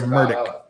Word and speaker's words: Murdaugh: Day weekend yes and he pronounces his own last name murdick Alex is um I